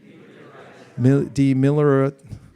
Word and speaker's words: demilitarized: Demilitarized. What am I doing wrong? I'm adding an extra syllable.